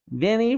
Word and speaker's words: Vinnie: wooden lips clicking together Vinnie rhymes with skinny he made the dummy